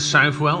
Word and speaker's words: Southwell: on the all-weather at southwell or Seville depending on how you pronounce it and Wolverhampton this